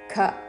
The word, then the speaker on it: ఖం: నలో భూమిరాపో నలో వాయుక్ విసర్గ తర్వాత ఖ ఉన్నది కాబట్టి శ్వాస వదులుతూ ఖ లాగా ఉచ్చారణ చేస్తూ భూమిరాపో నలో వాయుక్ ఖం మనో బుద్ధిరేవ చ ఖం మహాప్రాణాక్షరము ఖ ఖం మనో బుద్ధి భూమి